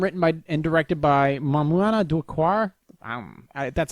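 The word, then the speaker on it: Maïmouna Doucouré: a French film written by and directed by Mamouna Doucoure.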